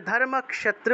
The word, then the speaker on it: ধর্মক্ষেত্রে: উচ্চারণ করব উবাচা উবাচা তারপর দেখুন ধর্মক্ষেত্রে খিয় খিয় থাকলে স উচ্চারিত হয় তাহলে ধর্মক্ষেত্রে উচ্চারণ হবে ধর্মক্ষেত্রে কুরুক্ষেত্রে ক্ষেত্রে থাকলে সেটা ক্ষেত্রে উচ্চারণ হয় সামবেতা আছে এই বটা